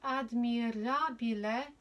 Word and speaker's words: admirabile: Et admirabile. So you go to rabile, roll your R's if you can. For 1. Et admirabile sacramentum.